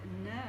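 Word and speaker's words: נר: evening well I've got the word No that's how you pronounce it and it means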